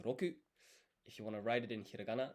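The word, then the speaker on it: 六: Six is in Japanese, if you want to say it, it's roku.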